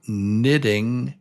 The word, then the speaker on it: knitting: Nathan knew nothing about knitting neat napkins. Nathan knew nothing about knitting neat napkins. Remember this word KN, very often KN is N. In fact, it's almost always just N.